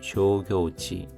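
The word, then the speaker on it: 商業地: 조교치 조교 둘 다 장음입니다.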